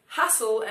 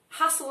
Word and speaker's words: hustle: Hustle and bustle. Hustle and bustle. Dwa razy te sobie zjadacie.